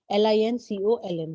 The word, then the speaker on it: Lincoln: ABRAHM Abraham, LINCOLN, where L is silent, Abraham Lincoln, right?